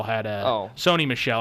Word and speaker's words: Sony Michel: very emotional I mean sunny Michelle had a toe sony Michelle I should I should say I keep getting his name mispronounced Sony Michelle I know